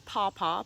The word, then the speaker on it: pawpaw: we're talking about is pawpaw p a w p a w so it's spelled like it sounds and the scientific name